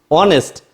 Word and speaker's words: honest: of a word and the pronunciation of H is silent then you will use